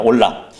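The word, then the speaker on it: עֹלָה: 예 주님께 드려진 제물이요이 번제물을 히브리어로 보면은 라라는 말입니다 올라 히브리어 발음으로 라데 그 뜻이 올라감이에요 그래서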